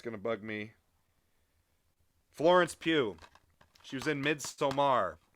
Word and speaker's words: Pugh: really really like florence pugh is really i think that's how you say last name it's spelled p-u-g-h uh sounds right i